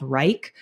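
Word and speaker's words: Wrike: process I use a project management software called Reich um wri I ke is how it's spelled and we built out a full template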